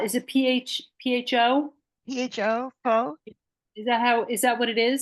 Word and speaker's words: pho: PHO is pronounced fa. Say that God one more knows. time. Fa. Pho. Fa. I don't know why. That's just how it's pronounced.